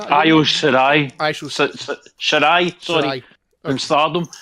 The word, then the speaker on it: Io Shirai: Number 6 is Io Shari. Am I pronouncing that? Io Shirai.